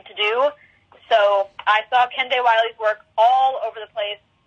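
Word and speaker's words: Kehinde Wiley: artists my one of my big favorites is ken day wiley it's spelled k e h i n d e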